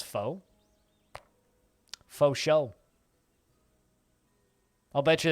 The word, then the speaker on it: pho: P-H-O is pronounced fa.